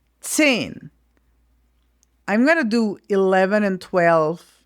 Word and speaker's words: zehn: So you spell it Z or Z-E-H-N, and this Z is really like tss. It's like if you had a T and an S afterwards.